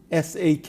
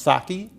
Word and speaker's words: sake: you'll tell me if I'm pronouncing it properly it's spelled s a ke I think it's pronounced saki well that's how most people pronounce it the